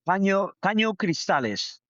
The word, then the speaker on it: Caño Cristales: You're gonna have to pronounce this for me. Go ahead. Caño Cristales.